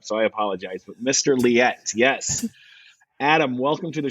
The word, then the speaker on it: Liette: tell me your last name how's that Adam liette Adam liette man I was trying to read the spelling it really messed me up so I apologize but Mr liette yes Adam welcome to the show thank you